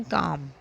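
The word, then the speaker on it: comb: next word पढ़ रहे हैं वह है हनी कॉम इसमें बी है मगर हम बी नहीं पढ़ेंगे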